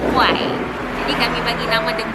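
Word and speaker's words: กล้วย: Dan ramai yang tanya kami, sebut dia macam mana? Kuih, kuai, dan maksud sebenarnya adalah pisang dan pronounce dia adalah kuai.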